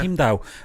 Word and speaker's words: Heimdall: It's a Thor 4 director fuels speculation for Idris Elba's return as, is it Heimdall? Is that how you say it? Heimdall, yeah. Heimdall.